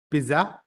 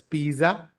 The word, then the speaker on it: pizza: in different ways some people pronounce it as Pizza some pronounce it as Pisa but did you know that the actual pronunciation